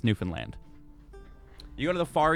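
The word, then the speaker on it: Newfoundland: Finland yeah all right it's spelled New Foundland but it's pronounced New Finland you go to the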